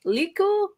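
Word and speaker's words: lekku: Wars nerds but is it called a Luke liku l-e-k-k-u the tendrils I think you said it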